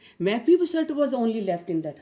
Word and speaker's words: Mephibosheth: How would you pronounce this? Mephibosheth. Mephibosheth was only left in that house, and he was lame in both the feet.